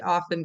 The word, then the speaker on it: often: Um because if you say it, he often goes there often. Um then they're going to think that there is only an F.